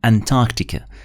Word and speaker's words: Antarctica: عشان إيش ما تستغربوا الكلمة لما نشوفها أو نسمعها أنتاركتيكا، هي بنقراها أنتاركتيكا، الآر لا تنطق.